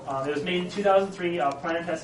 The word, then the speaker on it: Planetes: Planet Tess is spelled Planetes. It's actually you'll see it often spelled in Greek.